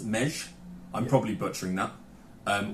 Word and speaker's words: Meggy: Hungarian Cherry ale um it's pronounced so the me GGY is pronounced mesh I'm probably butchering that